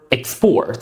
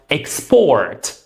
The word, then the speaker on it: export: The first word is export or export. So depending on whether you are using the word as a verb or as a noun. As a verb, it's pronounced export.